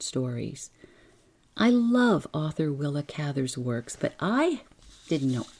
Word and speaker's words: Cather: Truman Capote knew her and pronounced her name as Cather. And so did I when I featured her work in, I'm looking it up, episode 271, The Burglar's Christmas. I said Cather then, but since then, everywhere I turn, it is pronounced Cather. So, I give in.